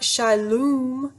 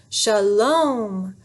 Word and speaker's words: shalom: shook his head no not shilum shalom that's the long o sound like home say it clearly with